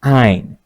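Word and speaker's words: -yne: and add the suffix yne. Yne is pronounced as "ine".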